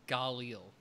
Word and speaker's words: Galil: the campaign is worth a play and it's pronounced galil thank you james mr drone um but yeah